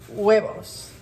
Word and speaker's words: huevos: Huevos. You know, that was the word, I think I got that wrong on my Spanish spelling test, was the word for eggs, because it's huevos, but it's spelled H-U-E-V-O-S.